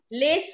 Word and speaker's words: les: Les garçons is wrong. What is the pronunciation of L-E-S? Les garçons. Les. It's les.